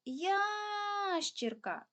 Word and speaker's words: ящірка: у цьому слові три визначаємо наголос гукаємо слово ящірка наголос падає на перший склад тобто на букву я тепер дітки Нам необхідно